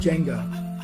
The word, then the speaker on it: Jangda: not it's not but whenever I'm interacting with somebody who's not familiar with you know just doesn't get our pronunciation and they're not understanding how to sing my last names I just saved Jenga and they look at me like the game yeah and you should